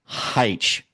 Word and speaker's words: Hyche: here with a good friend of mine, Michael Hyche. Yep, said it right. Did I Thank get you. it right? You got it Michael right, Frank. Hyche.